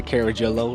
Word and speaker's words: Carajillo: Got a heel, or you can pronounce it the Carajillo like he does. Carajillo.